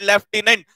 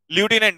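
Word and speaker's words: lieutenant: In Hindi we call it लेफ्टिनेंट, and English we call it ल्यूटिनेंट।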